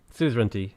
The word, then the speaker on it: suzerainty: Suzerainty is the correct way.